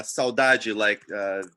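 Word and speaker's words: saudade: portugal but uh and so yeah and it's spelled like a saudaji i just put it on the chat s-a-u-d-a-d-e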